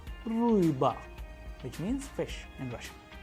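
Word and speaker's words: рыба: That is why it is a vowel, that is why the stress is falling onto it, and the pronunciation is ruiba, which means fish in Russian.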